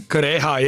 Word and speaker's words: Kureha: Dr. Kureha? Is that how you say her name? Kureha, yeah.